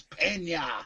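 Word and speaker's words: Peña: created he's a legend say his name right is Pina Pina like a colada spelt the same I created the character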